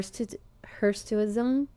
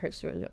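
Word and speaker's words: hirsutism: It's actually her hersism. But uh everyone in the world calls it heruism.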